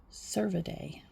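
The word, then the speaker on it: Cervidae: Deer are the smallest members of the family of animals known as survey pronounced surve.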